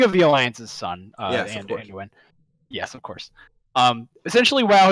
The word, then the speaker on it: Anduin: I said this guy's name wrong earlier. Hang on. Anduin. It's Anduin. King, the king of the Alliance's son. Yes, Anduin.